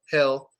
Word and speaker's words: hill: When you're making that E sound, you kind of want to smile and make a higher pitch voice and like tilt your head up a little bit. I feel good. My heel is great. But with Phil and hill, less stress, head down, deeper voice. Deeper, like deep voice.